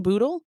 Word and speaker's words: Bootle: truly fascinating guest with us is it ble yeah he actually said a correctly my last